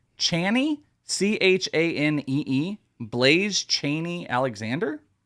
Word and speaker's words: Chaney: Chaney, Chanee, Blaze Chaney Alexander, Shanae.